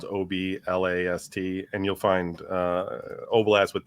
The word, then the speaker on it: Oblast: It sounds like it's spelled like it sounds OBLAST, and you'll find Oblast with Don and Kevin, sometimes called Kevin's Oblast Radio.